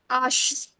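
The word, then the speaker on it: hache: ओ एफ जे H silent H is silent, but what is the name of this alphabet? आश.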